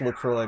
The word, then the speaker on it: LaCroix: It's LaCroix because that's how they pronounce it in LaCroix, Wisconsin, which is where the shit's from.